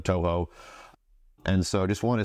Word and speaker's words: Toho: I called it Shoho instead of Toho.